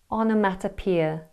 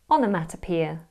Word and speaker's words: onomatopoeia: Say it with me. Onomatopoeia. Break it down. Ona, mata, peer. Onomatopoeia.